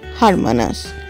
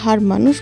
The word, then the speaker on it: Hermanus: ট্রিপের শুরুতেই আমরা গেছিলাম হারমানাস। হ্যাঁ বানানটা দেখে হার মানুষ বলতে ইচ্ছা হলেও একচুয়ালি এটার প্রোনাউন্সিয়েশন হচ্ছে হারমানাস।